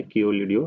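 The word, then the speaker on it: Keoladeo: थोड़ा सा प्रोनाउंसिएशन में दिक्कत हो सकती है, पर इसका नाम यही है, कियोलिडियो नेशनल पार्क।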